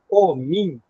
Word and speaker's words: omi: Do mesmo jeito que eu escrevo omi e leio omim.